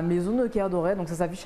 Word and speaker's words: Kerdoret: Maison de Caire Doré. De Caire Doré. Voilà la bonne prononciation.